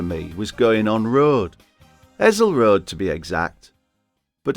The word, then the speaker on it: Hessle: It's not Hessle, it's Hessle. Like that song Liza with a Z, 'cause S spells Lisa.